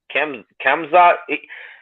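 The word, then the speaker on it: Khamzat: How do you pronounce his name? Kamzat.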